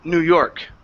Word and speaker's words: New York: New York okay so when we say New York the stress is on York okay so instead of saying New York it's New York New York good good